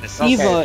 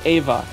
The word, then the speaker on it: Eva: Eva is Evangel Evel oh neon Eva not Ava got it wait what why